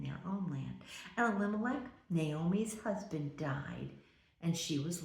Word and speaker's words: Naomi: And the name of his wife was Naomi, or in Hungarian, it is Noemi. Naomi is how we pronounce it.